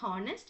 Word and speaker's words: honest: So you are not using it as you are not pronouncing it as honest. It is honest.